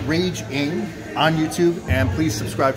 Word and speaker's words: Rage Ng: my name's rage r-a-g-e last name is spelled ng i'm raging uh just search rage ing on youtube and please